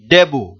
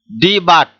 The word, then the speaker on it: debut: এখানে মনে রাখতে হবে ডি বাট এরকম ধরনের যেন উচ্চারণ না হয়। এই যে এখানে টি আছে, এই টিটা সাইলেন্ট থাকবে, উচ্চারণের ক্ষেত্রে টিটা সাইলেন্ট অর্থাৎ নীরব থাকবে, এটা উচ্চারণটা হবে না। তাহলে উচ্চারণটা হবে কি ডেবু।